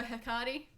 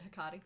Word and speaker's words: Hecate: Yeah, you go, Hecate. Hecate. Hecate. On Charmed, they pronounce it Hecate. I haven't Googled this. I just want to say Hecate.